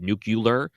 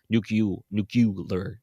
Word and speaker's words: nuclear: Bush said nucular, I'm always afraid to say the word because I'm like, am I going to say it wrong this time?